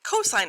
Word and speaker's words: cosine: we also have cosine cosine is spelled c o s i and e but abbreviated cos again you will still say cosine of theta if you would like